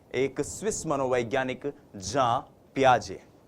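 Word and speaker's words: Jean Piaget: प्याजे जी हां हम इनको हिंदी भाषी लोग अक्सर जीन पियाजे जीन पियाजे कहते हैं लेकिन ये जो जीन शब्द है जे ई ए एन जो ये स्पेलिंग है ये स्पेलिंग जो है इसका उच्चारण जब आप स्विस भाषा में करते हैं यूरोपियन कंट्रीज में करते हैं फॉरेन ऑथर्स को पढ़ते हैं तो वो होता है जां प्याजे तो हम भी जां प्याजे बोलने की कोशिश करेंगे जि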